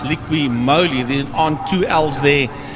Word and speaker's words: Liqui Moly: sponsored by if you always used to say liquid Molly but I was led to believe that it's actually pronounced liqui moly then aren't two L's there and that's our